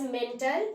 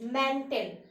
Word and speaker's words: mantle: Please don't pronounce it as mental. It is mantle.